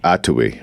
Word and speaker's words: atoui: sorry yeah no absolutely accent on the first syllable um in English we tend to stress the second to the last syllable yeah when we approach an unfamiliar word but this is atui and that's from the